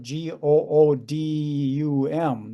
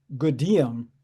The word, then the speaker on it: Gudim: So if I tell it to you, you would spell it Goodum. That's not right. It's spelled Gudim. So if you see it spelled, you say then Goodium.